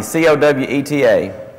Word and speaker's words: Coweta: don't want to say wrong it's a county co weta how do you say that County Coweta okay